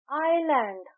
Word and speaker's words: island: एन ई एस T honest तो यहां H silent है आइलैंड आइलैंड को हम लिखते हैं आई एस एल